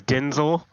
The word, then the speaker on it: Denzel: that's that is so UNT his name is Denzel Denzel yeah I you not that's how he pronounces it Denzel yeah I've heard it yeah